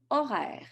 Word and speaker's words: horaire: Horaire. C'est un horaire masculin. H muet.